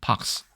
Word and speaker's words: pox: 그 얼굴에 움푹 패이는 그런 마크, 그런 흉터를 팍이라고 하는데 그걸 S 붙이면 여러 가지가 있는 복수가 되죠. 그래서 그걸 한 번에 그냥 표현하기 위해서 발음은 똑같겠죠. pox.